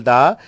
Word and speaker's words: the: हाँ, ये भी आप समझिए, जब आर्टिकल दा किसी वॉवल साउंड के पहले लगे तो उसका प्रोनाउंसिएशन दा की जगह दी हो जाता है। So what will call it, दी incident, not द incident.